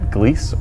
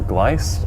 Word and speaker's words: Gliese: to be taking a look at Gliese or glice or Goliath depending on how you would like to pronounce it there's a lot of